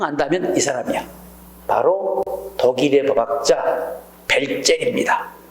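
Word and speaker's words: Welzel: 사람이야 바로 독일의 법학자 벨제 독일은 독일어는를 비로 발음을 해요 그래서이 벨제이라 사람이 목적적인의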